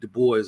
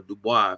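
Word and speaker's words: Du Bois: right like Garvey in W.E.B the boys or Dubai if you like the French pronunciation he was Martin Luther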